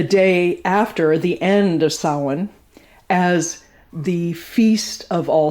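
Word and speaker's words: Samhain: particular split between autumn and winter is is sin which is spelled s a m h a i n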